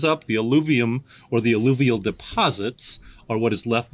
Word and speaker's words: alluvial: I hope I pronounced this shit right. Is it alluvial?